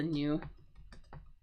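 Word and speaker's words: gnu: This is a new with the silent G. Usually when we have this G-N combination, the G is silent.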